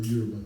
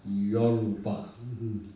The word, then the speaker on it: Yoruba: So my name was given to me by the Euroba people.